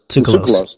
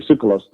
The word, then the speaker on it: Tsoukalos: George, what is it, Zoulas? How do you pronounce George's name? That's the founder. Tsoukalos. Thank you, Tsoukalos.